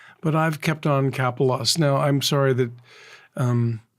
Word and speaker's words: Kapelos: it was um so people were having trouble pronouncing my name and I said it's capos and they said well